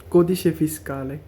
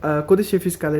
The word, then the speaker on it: codice fiscale: হলো lesson three তো আজকের ক্লাসে আমরা জানবো কদিশে ফিসকালে কদিশে ফিসকালে সম্পর্কে আর এটার নাম্বারটা তো কদিশে